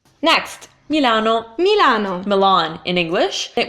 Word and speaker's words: Milano: the Mia mallanna Wow in Italian you need to make the sound more clear that is its me it's an eyesore Isan new lon Milano right Milano so it's e ah oh yeah yeah oh those are the vowels you need because your constants are staying the same sub e or try to get on tight vowels and that should do